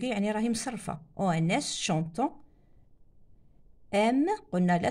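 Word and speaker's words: aiment: aime قلنا لا تنطق ENT chantant ONS ينطق chantant. aime ما نقولش aimant لا ينطق le ENT هذا لا ينطق.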